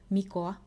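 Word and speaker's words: Mikko: names in the future here's how I would pronounce them I'm saying this is the correct way to pronounce them or how the author intended for you to pronounce them but this is the Finnish way to say them the protagonist noryeok idea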